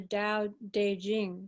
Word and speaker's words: Dao De Jing: Yeah, yeah and Nicole's completing her book on the Dao De Jing.